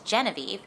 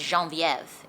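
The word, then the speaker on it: Genevieve: own name and it's Jean Viv it's pronounced in a French accent because she has family from like Louisiana they speak Creole and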